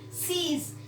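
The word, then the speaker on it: seize: everywhere you're pouncing and sees my hat and clutch my hair sees s e i z this is a pronunciation sees what it is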